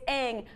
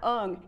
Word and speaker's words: Aang: episode of the series, it's Aang, not Ung, you jackass.